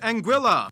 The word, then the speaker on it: Anguilla: are pretty much tax havens first we have anguilla yeah that's how you pronounce it named after the spanish word for